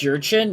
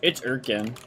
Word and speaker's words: Urkin: It's Yurchin? No, it's Urkin.